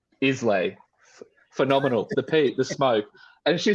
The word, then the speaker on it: Islay: interview she's just like isla and i'm like huh isla i was like i have no idea what you're talking about that's your favorite type of whiskey that's how it's pronounced and i was like